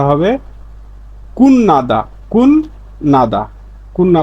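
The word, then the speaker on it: 끝나다: তাহলে এর স্বাভাবিক উচ্চারণ কুতনাদা। কিন্তু এর সঠিক উচ্চারণ কুন্নাদা। কারণ বাচ্চিমেয়ে ত ধ্বনির একটা বর্ণ পাইছি তারপরে নিউন পাইছি তাহলে ত ধ্বনির উচ্চারণটা নিউন হয়ে যাবে তখন এর উচ্চারণটা হবে কুন নাদা কুন নাদা কুনা উচ্চারণ করবেন এভাবে লেখা থাকবে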